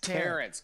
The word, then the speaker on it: Terrence: Do you guys like the addition of Torrance Gore? Terrence. Can you say Terrence? Terrence, god dang. Torrance. Did I spell it wrong or Torrance.